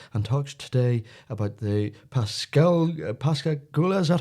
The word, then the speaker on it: Pascagoula: Philip Mantle from West Yorkshire has authored several books on the subject and talks today about the Pascagoula, is that how you pronounce it, Philip? Pascagoula, yes. Pascagoula.